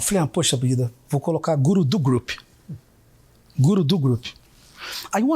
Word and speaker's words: Gurudu: Só que quando eu falo, eu pronuncio Gurudu, a fala, né? Por exemplo, Guru do treinamento, José Roberto Marques. A gente nunca escreve a preposição DU, mas a gente sempre fala ela, né?